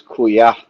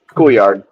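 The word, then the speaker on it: Couillard: It's I mean technically it's kua if forgetting French but it's coolard coolard ky is cool.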